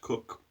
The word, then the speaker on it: Koch: in English it says it's pronounced cook in German which is a German company.